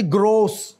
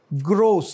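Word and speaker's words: gross: आगे क्या है जी ग्रोस ग्रोस नॉट ग्रॉस जैसे ही ग्रॉसली एरेड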